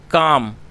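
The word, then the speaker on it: calm: सी ए एल एम जिसमें एल जो है वह साइलेंट है तो हमें इसमें अ काम पढ़ेंगे इसको क्योंकि एल जो है वह साइलेंट है उसको प्रोनाउंस नहीं किया जाएगा काम यह एडजेक्टिव और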